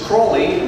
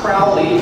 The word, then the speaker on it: Crowley: aliser cruy and by the way the proper pronunciation is cwy not Crowley do not listen to Aussie Osborne he is